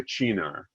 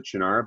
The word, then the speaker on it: Cynar: And you can say, like, the Italians will say Cynar, and so as opposed to Cynar, but it comes from the genus species of artichoke, which is Cynar cardunculus. It's not Cynar.